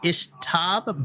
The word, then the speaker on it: Ixtab: Here's the thing: it's pronounced Ishtab, but the way that it's spelled is Ixtab.